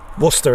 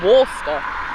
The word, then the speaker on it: Worcester: ones but generally curry's after mastering worcester is how it's pronounced right so i was right the first yeah so i was i was close okay you said walster i just i just